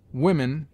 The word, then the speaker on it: women: block knock oblique Dal women is pronounced w i m n the short o has